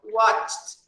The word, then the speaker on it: watched: We have to pronounce them with a sound of T, okay? So watched, watched, watched.